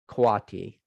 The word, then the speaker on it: Kwati: He's pronounced Kwati. It is the Spanish word for friends, twin, buddies. I know it can be tough to pronounce.